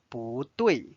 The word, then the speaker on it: 不对: The next word we are going to learn with 不 is 不对。不对。 Notice 不 is changed to the second tone because 对 is the fourth tone.